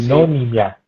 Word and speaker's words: Sinonimia: que es el proyecto, decime bien si pronuncio bien el nombre, Sí, Sinonimia. Pues bien, sí, está bien dicho. sinonimia, Sinonimia, sinonimia, ahí está, exacto.